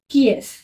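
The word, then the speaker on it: qui est-ce: ई एस टी सी ई हु इज इट कि एस कि एस कैसे pronounce करोगे इससे की एस की एस ठीक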